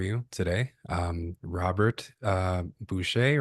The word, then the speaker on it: Bucher: Um Robert uh Bucher, right? That's how you that's how you pronounce that. Bhar. Bher.